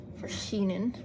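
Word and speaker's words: Vershinin: I'm still learning how to pronounce his name. Verschinen. I think that's actually the closest I've been to his actual name as intended by the author.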